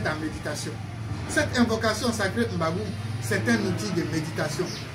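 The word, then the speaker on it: M'Bagu'um: Mbagoum s'écrit tel que vous voyez sur l'écran. M apostrophe B A G U apostrophe U encore M. Mbagoum.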